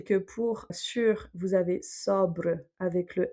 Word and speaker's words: sobre: Sobre, qui veut dire sur quelque chose. Et donc là, vu que le O est avant le B, on va prononcer O ouvert.